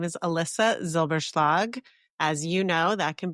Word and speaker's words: Elissa Zylbershlag: Well, my name is Alyssa Zilberg. As you know, that can be a hard name to pronounce.